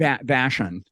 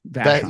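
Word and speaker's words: Vashon: Vashan. Vashan.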